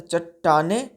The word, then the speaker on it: चट्टाने: वाली थी ठीक है य य प आधा ट है य आधा ट हम लोग पढ़ते हैं तो चट्टाने देखिए पढ़ने का उच्चारण